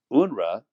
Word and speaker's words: UNRWA: this UNR official and by the way unrah that's pronunciation of unrwa stands for the United